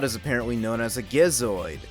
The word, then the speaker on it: Gizoid: The robot is apparently known as a Gizoid, pronouncing it with a G because there's no way it sounds right with a J, and the Gizoid ends up being discovered by Sonic.